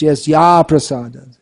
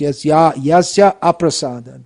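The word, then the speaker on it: yasyāprasādāt: It should be pronounced Yasya prasadad. If you say Yasya prasadad, it means by his mercy, nagati katopi, no hope. So it should be pronounced Yasya aprasada, by his non-prasad.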